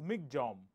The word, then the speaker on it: Michaung: Cyclone MC J right you pronounce it as MC J okay so there's a